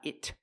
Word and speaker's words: it: It really helps you. We hear the pronunciation it use a stop T. Not it but it. Stop the air.